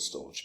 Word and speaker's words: Storj: and I'm going to continue to call it storage but it is called meant to be pronounced storage uh has done really well in